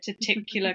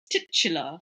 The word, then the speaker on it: titular: of our reals where I said taticular character and it's not ticular, it's titula.